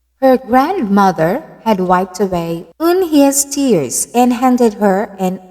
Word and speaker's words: Unhei: It's pronounced Unhei." "Oh, it's Unhei," the boy said. "Like you, hey, what about hey you?"